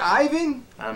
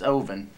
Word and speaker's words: Ivan: what's your name again ivan is your name ivan boy well it's ovin but this is spelled with an eye aye ivan did